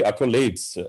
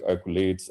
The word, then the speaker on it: accolades: felt it wasn't correct it should be accolades and that its age like occulates and mediocre and that